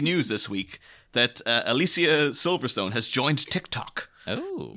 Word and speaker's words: Alicia: years yeah because everyone she's saying it's not alicia it's alicia so alicia silverstone but